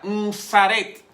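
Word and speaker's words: משרת: Con M, ensaret, se pronuncia de esa manera, ensaret.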